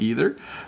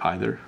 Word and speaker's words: either: I hope they're not either. I could also say either. Remember, I used two different pronunciations there.